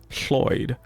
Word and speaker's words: Lloyd: single Welsh name, but they contained a sound that we don't really have in English. So when English speakers in England started trying to pronounce that name, they either went with Floyd or Lloyd. The actual sound is Floyd. It's almost like you're making an F out of an L, which is why